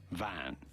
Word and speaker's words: van: Van is not correct, but rather in Dutch they say van. Van. Shorter with a more open A sound.